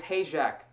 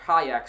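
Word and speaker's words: Hajek: Here is Hak. Here's Jones Fun or Hayak.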